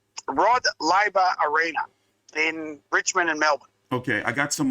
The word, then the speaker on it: Rod Laver Arena: to be taking place in the can you pronounce that arena, Big J? Yeah, mate, it's Rod Laver Arena in Richmond and Melbourne.